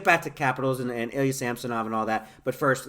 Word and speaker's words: Samsonov: get a little bit about Ilya Samsonov, now Samsonov again pronounced, by the way, and the Leafs goaltending situation.